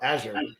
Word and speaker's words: Azure: healthy for the market you know what I pronounced it wrong I think hang on whatever you may have pronounced it correctly yeah that's what I thought azure Azure all right yep no I stand corrected yeah um now you're